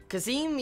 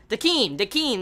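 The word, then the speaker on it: Decim: Let's see, Kazim, yeah, that's how you say it. Kazim from Death Parade, I forget his exact name, but you know, the main character. Dakeem, that's it, Dakeem.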